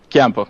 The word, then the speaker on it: Ciampo: Andrea Ciampo, if I'm pronouncing it good, Chiampo, yeah. Chiampo, yeah.